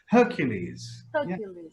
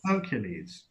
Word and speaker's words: Hercules: your favorite cartoon again we how do we pronounce this guy's name Hercules Hercules now what's this word that I have in